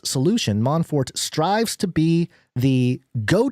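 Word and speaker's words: Mon4t: the company is called Monfort and they the way they spell it out it's m o n and then the number four and then T man Fort very creative and they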